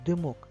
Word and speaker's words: димок: вечір щоб перевірити слово димок яке слово Нам підійде дим абсолютно правильно слово дим а тепер давай подивимося скільки складів в слові Димок д мок 2 наголос на другому складі а буква и звук